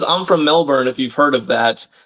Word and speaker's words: Melbourne: Oh, it's pronounced mail bun.